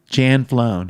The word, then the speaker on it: Janflone: Jan Flown. If you ever want to say my name, Jan, it's the last name. Jan flown. Really easy.